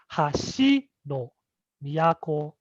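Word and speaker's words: 箸の都: dropping of the pitch so it sounds like hashi no miyako it goes up and down can you try that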